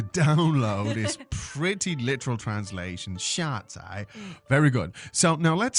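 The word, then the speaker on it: 下载: 下载. 下载. So fourth and third tone.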